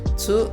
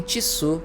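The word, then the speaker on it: つ: Não pronunciem tisu quando estiverem falando japonês, tá? É tsu.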